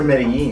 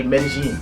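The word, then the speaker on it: Medellín: Yeah, because we always hear Medellin. Medellin. But that's actually incorrect. Yeah. The locals say Medellin. Medellin's right, yeah.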